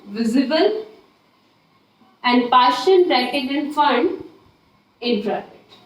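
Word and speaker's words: Pfund: next आएगी फंड series लेकिन इसको पी फंड लिखते है जहां प पी हमारा साइलेंट होता है स दैट इज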